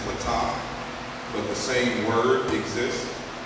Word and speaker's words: Ptah: One of the major deities is, we pronounce it Ptah, but the same word exists in the Yoruba language as Pataki.